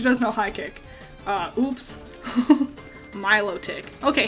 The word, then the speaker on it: Milotic: That's not how you pronounce that. Milotic, and I crazy. Bananas. Like, I pronounce a lot of things wrong, I know that. But I would have sworn on my life it was pronounced melodic.